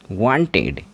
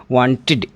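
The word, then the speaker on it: wanted: लेकिन यदि ट और डे यही दोनों साउंड किसी वर्ड के लास्ट में आ जाएं तो जो ईडी लगाएंगे इस ईडी का उच्चारण आपको इड करना है।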